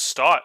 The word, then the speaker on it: Stott: Oh, it's Stott. Okay, I always thought it was Scott.